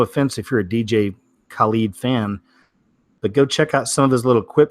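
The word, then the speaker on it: Khaled: the celebrities is DJ collied I think his pronounced keep kha l ee d DJ collied I think anyway this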